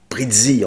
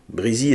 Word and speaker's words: Breezy: brésil alors notez que j'ai moi même prononcé prizzi en mode bretzel pendant longtemps avant d'entendre la bo du film on dit bien président breezy étant le surnom choisi